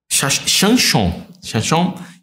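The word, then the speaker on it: שמשון: Chanchon, que é a pronúncia correta.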